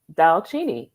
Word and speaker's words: Dalcini: My husband is Italian, so we did the spelling, which is an Italian spelling because the Cini is pronounced chini. Yeah. And so I said, okay, Dalcini, and both sides of the family could pronounce it.